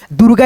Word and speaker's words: दुर्गा: तो ये जो रेफ की मात्रा लगा है हम लोग दोस्तों इस अक्षर से पहले ना रेफ की मात्रा का उच्चारण करेंगे तो एक तो ये हो गया आपका दोस्तों रेफ की मात्रा दुर्गा इसको पढ़ लेंगे और दोस्तों एक रेफ